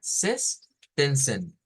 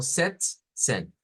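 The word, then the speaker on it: sechzehn: Sestensen, sestensen, como agregarle la T. ¿Vea? O como setsen, setsen. Creo que la más correcta es esta última, setsen, setsen. Por separarla de esa manera, las dos sílabas.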